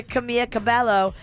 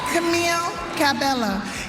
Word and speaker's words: Camila Cabello: She's trying to give some props to Camila Cabello, and she can't pronounce her name. Camila Cabello. Camille Cabello is nominated for Y'all know I can't read that good, right?